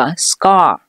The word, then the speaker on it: scar: 疤这个词咱们读作 scar，类似的词还有很多